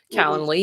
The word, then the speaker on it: Calendly: do you say that how do you say calendar calendar lee yes calendly it's amazing you solved